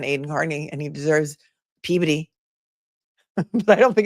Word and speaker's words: Peabody: I mean, nobody's written more about the Karen Reed case than Aiden Carney, and he deserves Peabody, but I don't think it's pronounced pee. Peabuddy, a Peabody award.